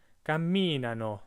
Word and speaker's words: camminano: They walk is camminano. Remember to put the emphasis one syllable back, so it's on the I.